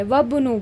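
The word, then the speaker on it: وَابْنُ: है अ हमज़तुल वसल अगर बीच में आ जाए उससे पहले एक वर्ड भी आ जाए ना एक लेटर भी आ जाए ना तो हम जो है उसको प्रोनाउंस नहीं करेंगे। हम डायरेक्ट बोलेंगे वबनु बोलेंगे।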